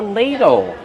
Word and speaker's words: ladle: Use a long a sound like pay and say. Lay. Ladle. Use the fast D and the short sound o like in table.